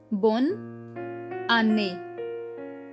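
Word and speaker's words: bonne année: me today's keyword is bon ani which means happy new year bon ane the double e is pronounced as a over here clear your doubts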